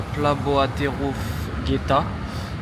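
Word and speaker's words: Plac Bohaterów Getta: Donc actuellement, je me trouve à la Plaboaterof Geta, ça se prononce comme ça.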